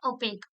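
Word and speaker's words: opaque: इसका प्रोनाउंसिएशन है ओपेक।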